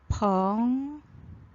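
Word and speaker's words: 朋友: 어떻게 읽어야 될까요? 벙요. 여우는 경성입니다.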